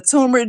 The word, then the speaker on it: turmeric: But since I've been taking the turmeric drink, I can't tell no more. I've been healed. And you pronounce the word turmeric properly.